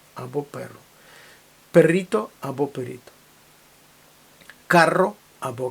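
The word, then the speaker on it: carro: увазі знову ж таки різниця в тому як ми вимовляємо звук R сильне R подвійне пишеться подвійною буквою або одинарне р карро і Каро лапарія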